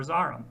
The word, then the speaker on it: Zoram: like Coram and Zoram, according to Webster 64, they should be pronounced with the bother vowel, like the word orange or the word tarit. So we really should see something like karam or zaram. And we don't. We say koram and zoram.